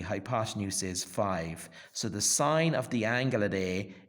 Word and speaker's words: sin: trigonometry as an as a degree so the sign which is written as Sin but pronounced with a signal silent e at the